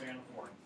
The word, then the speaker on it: anaphora: So with Martin Luther King, I Have a Dream, when did we have anaphora? Or anaphora, is either pronunciation of the word.